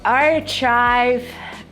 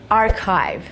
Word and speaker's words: archive: Well, archive, that's not the word. This is the word archive.